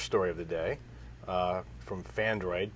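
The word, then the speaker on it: Phandroid: Okay, so the first story of the day from Fandroid, P-H-A-N-D-R-O-I-D, Fandroid, that's spelled that way.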